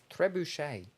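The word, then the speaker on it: trebuchet: a truch TR bucket treuchet Tre bucket Bush a the t is silent at the end of most French words uh truet oh the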